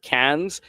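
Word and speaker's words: Cairns: Great Barrier Reef off Cans. I recommend CA cans dive center. Uh they don't pronounce the R. I know there's an R in it, but they pronounce it like tin cans.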